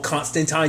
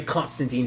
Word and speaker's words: Constantine: on NBC was out he was always pushing for the whole constant time because I think that is the proper pronunciation but I'd never stuck with that I've always been a Constantine person I think most people